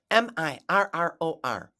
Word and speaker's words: mirror: isn't that a cute squirrel okay let's review m i r r o r Mirror Mirror SQ u i r r e